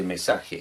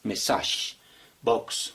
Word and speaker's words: message box: Pero también se puede utilizar un label o un message, así se pronuncia, message box, no se dice mensaje, sino message box, ¿listo?